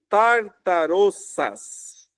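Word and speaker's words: ταρταρώσας: Mas você consegue talvez olhar esse termo aqui, tartarossas. É assim que se pronuncia o termo grego, que é traduzido aqui por inferno, ok?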